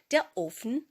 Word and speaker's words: Ofen: Отже, офн у множині перше значення це є піч грубка або ж електрична пічen.